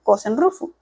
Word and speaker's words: kosen-rufu: Esta frase, específicamente, propagación amplia y universal, es la traducción de los ideogramas chinos que en japonés se pronuncian Kosen Rufu.